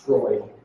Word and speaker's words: Freud: It looks like Freud, it's pronounced Freud.